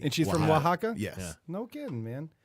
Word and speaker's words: Oaxaca: Starts with the O, but it's pronounced Oaxaca.